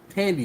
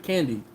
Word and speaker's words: Tandy: Tandy, not candy.